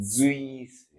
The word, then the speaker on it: Suisse: Très important à remarquer la prononciation de la Suisse. Parce qu'ici, je dis Z. Et ici, S courante. Donc, je remarque, ils vont ou elles vont en Suisse.